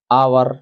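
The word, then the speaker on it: hour: अगला प्रश्न यू आर आवर late. अब क्योंकि यहां एच है लेकिन उच्चारण हो रहा है आवर।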